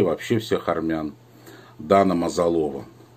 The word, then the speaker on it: Мазалова: вообще всех армян, Дана Мазалова. Да-да, именно Мазалова, неправильно у нас обычно ее произносили фамилию Мазалова. И когда я был у нее в Праге, тогда я узнал, что она Мазалова.